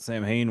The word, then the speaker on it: Samhain: But I just found out, like I had found out after we shot it, that the way it's pronounced in Gaelic is Samhain, which I thought was really interesting.